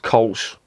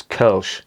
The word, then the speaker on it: Kölsch: the point of course it's not pronounced colsh it's kerch the umlauts on the